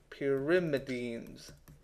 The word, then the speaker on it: pyrimidines: means pretty view okay I really have trouble pronouncing this word for some reason it's PI pyrimidines okay so they can